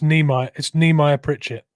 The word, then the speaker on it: Nehemiah Pritchett: Are you going to make me do it, Mitch, or do you know how to pronounce it? I can do it. It's Nehemiah Pritchett.